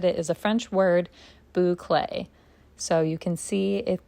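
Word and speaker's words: bouclé: While I'm opening this, I literally just went to Google to see how to pronounce this yarn name, and it says that it is a French word, Boulcé.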